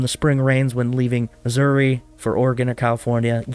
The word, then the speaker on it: Missouri: Well, that's because every time somebody says Missouri, there's a bunch of people who are like, it's Missouri. Like there's some sort of like Jesse James outlaw that needs to pronounce it so ridiculous.